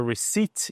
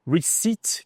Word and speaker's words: receipt: Receip, que é recibo, a sua nota fiscal. Receip, não, esse P, ele p de pato, ele é mudo. Então é would you like your receipt? Você gostaria do seu do seu recibo?